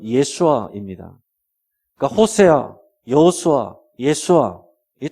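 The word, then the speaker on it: ישוע: 예수라는 이름도 현지에서는 실제 발음은 예수아입니다.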